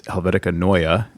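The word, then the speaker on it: Helvetica Neue: turns out uh my client was right it's helvetica noya um and that was courtesy of gary hustwick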